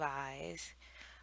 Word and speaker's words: Ys: daughters of eyes so i think it's pronounced eyes even though it's y s did some googling pretty